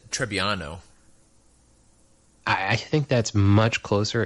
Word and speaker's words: Trebbiano: So I would say, how did you pronounce the grape again? I said Trebbiano.